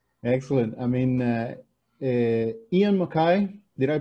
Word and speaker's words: Ian MacKaye: there you go excellent i mean uh er ian mckay did i pronounce that right that's correct yeah ian makai